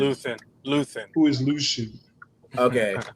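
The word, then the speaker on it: Luthen: they really don't like Lucian. And I I I never understood that or Luan. Is it Luth or is it Lucian? Luth.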